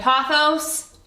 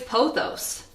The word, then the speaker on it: pothos: thing to note throughout the entire video I pronounce two plant names incorrectly I'm only human I've always said pothos apparently it's pothos and I've always said philodendron apparently it's philodendron